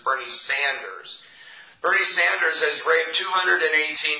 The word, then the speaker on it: Bernie Sanders: It's not Bernie Saunders, it's Bernie Sanders.